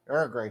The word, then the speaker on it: Earl Grey: I said it wrong. Earl Grey tea, not all Grey tea.